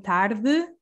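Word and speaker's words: tarde: for this pronunciation because if you see the e at the end in tardu almost disappears and this is because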